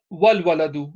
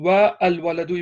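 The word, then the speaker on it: والولد: So the haraka on the waw joins directly onto lam, so it becomes wal waladu. Instead of saying wa al waladu, it becomes wal waladu.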